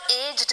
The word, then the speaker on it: aged: ये जो वर्ड है ना, इसमें पूरी दुनिया को कंफ्यूजन होती है, कब एज्ड कहना है, कब एजेड कहना है। हाँ, AGED। अब UK US दोनों प्रोनाउंसिएशन में एजेड हम आराम से बोल सकते हैं।